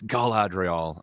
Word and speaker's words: Galadriel: been created everything so I used to just say glad drill and I was told it was Galadriel so I've been trying